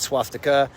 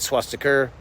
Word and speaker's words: swastika: First off, swastika, not swastika, but swastika. My guy, he can't even pronounce the hate symbol he's defending.